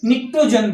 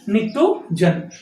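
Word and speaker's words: pnictogen: और इसको जो एन है ये निक्टोजन बोलते हैं, पी साइलेंट होता है, पी लिखते हैं निक्टोजन।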